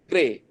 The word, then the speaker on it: gray: the doors this g how do you pronounce that grey right so a dose of 60 to 65 grey is given and do